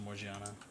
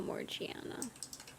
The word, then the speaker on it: Morgiana: Just put Morgana. But they pronounce it Morgiana. Oh, Morgiana.